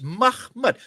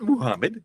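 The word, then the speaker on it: Mahmet: It's Mahmed, M-A-H-M-E-T. It's Mahmed. He even pronounces it. It's not Muhammad. There's no Muhammad there.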